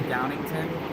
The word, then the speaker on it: Downingtown: Or Downingtown, which is actually Downington. I've only mentioned Conshohocken because it's the weirdest, the longest name like Schuylkill.